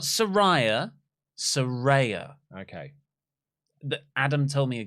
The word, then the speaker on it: Saraya: knighted Rey Mysterio Mysterio Sarah not Soraya no sir Ray it's not psoriasis it's Saraya I think you just